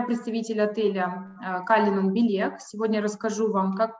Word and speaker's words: Cullinan: Я представитель отеля Калинан Билек. Сегодня расскажу вам, как прошло наше открытие. Покажу какие-то фотографии, живые, свеженькие. Итак, название нашего отеля Калинан Билек, правильное произношение Калинан.